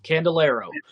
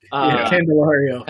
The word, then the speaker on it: Candelario: Jamer, I'm saying it wrong, like Candelero. Candelario.